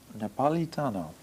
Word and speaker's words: Napolitano: on it again please napolitano napolitano with a slight italian accent uh how the the